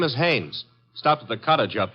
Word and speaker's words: Haynes: a i n e s oh oh oh Hanes yeah do you know him un as a fellow named Hines used to fish out no no not Hines hannes couldn't be Huntingburg no it couldn't be